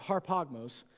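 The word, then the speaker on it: ἁρπαγμός: Harp or harpogmos, it's got the sound at the beginning. It's spelled like arpog. It doesn't matter.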